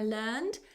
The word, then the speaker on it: learned: Be careful, this is the adjective, and the adjective is an exception. The learned professor. So here it's not the verb learned, I learned. Here it's the adjective learned, a learned professor.